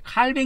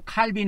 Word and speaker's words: Calvin: 같은 문구 에 " 칼빈 " 이라는 단어가 등장 하는 것 을 볼 수 있습니다 . 그것 은 프랑스어 발음 입니다 . 그리고 " 캘빈 " 은 영어 발음 을 한국어로 음역 한 것 입니다 .